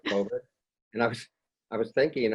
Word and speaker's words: COVID: I think I mispronounced, I think I said covoid for some reason instead of COVID.